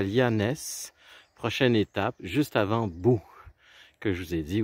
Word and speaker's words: Boo: Boo, c'est une ville qui s'écrit B-O-O. Alors, c'est la ville qui fait peur en anglais, là. When you say Boo.